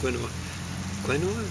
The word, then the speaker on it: quinoa: No, I gotta admit, I'm not a huge fan of quinoa. Quinoa, that's how you pronounce it.